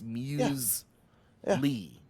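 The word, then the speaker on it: muesli: So the pronunciation the correct pronunciation of this of muili or muse musli is you were saying it right, Joe. It's muse lee.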